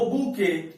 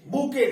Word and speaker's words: bouquet: वो बूके, बूके देख रहे हैं, टी इज साइलेंट, बूके इसे कहते हैं, BOUQUET।